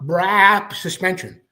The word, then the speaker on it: Brap Suspension: It is Roger Neff from Brap Suspension. I say it like that because when he makes a video, he says Brap Suspension.